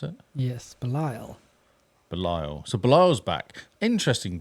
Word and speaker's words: Belial: So Ambush, it's Bial, I guess that is. Oh, Belial. Belial, is that how you pronounce it? Yes, Belial.